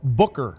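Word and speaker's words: Beuker: Paige Booker. Beckers. Becker. So close. I keep getting It's B E U K E R. It's spelled a little differently, but sounds more like Booker.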